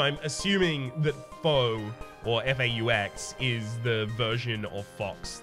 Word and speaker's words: faux: So I'm assuming that faux, or F-A-U-X, is the version of fox that's existing in this world. So I'll say fox from now on. Be aware, I'm aware that it's pronounced faux.